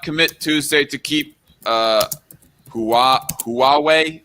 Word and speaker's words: Huawei: tuesday to keep uh huawei is that how you pronounce that huawei yeah that because that is definitely not hawaii it almost makes me